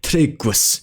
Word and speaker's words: triggws: However, it should be noted that some instances of GGW are instead pronounced as a lengthened GW sound, gwa, as in tryggus, meaning faithful.